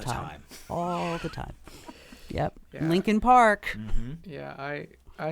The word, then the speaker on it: Lincoln: spelled l e a k n and it's pronounced Lincoln lincol Park Lincoln I know but it's technically lean Park not